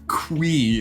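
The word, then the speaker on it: Qi: As we've discussed, Mr. Quee is how you say this guy's name. I refuse to call him that. Say it as Quee too.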